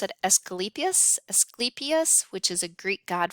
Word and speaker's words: Asclepius: Um, but this came from, I think you pronounce it Asclepius, which is a Greek god for healing, and